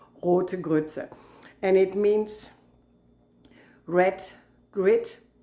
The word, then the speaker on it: Rote Grütze: I know, for Americans it's terrible to pronounce, Rote Grütze.